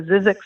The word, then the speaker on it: Zzyzx: I wasn't sure how to pronounce that because it had way too many Z's and not enough vowels, but I'll go I with think that. zZyzx is actually correct.